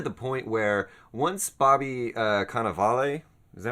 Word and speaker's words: Cannavale: and even to the point where once Bobby Cannavale, is that how you say it? Yeah, Bobby Cannavale, yeah.